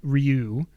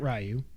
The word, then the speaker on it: Damien Rieu: In a now deleted tweet, French far-right politician Damien Rieu, not Ryu, R-I-E-U, that would be Ryu. How do you spell it?